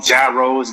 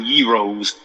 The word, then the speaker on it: gyros: uh Greek uh yos as people call them gyros gyros but it's pronounced yos and is it a I'm sorry everybody